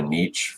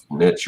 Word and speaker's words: niche: I guess, find a niche for myself, niche or niche, however you want to pronounce it, where, I'm sort of